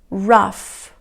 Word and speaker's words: laugh: hola enough que ya estas palabras lo que tienen en común es que la combinación gh se pronuncie como efe ok esto es muy importante vamos a repetirlos estás chao raf rush cap cap más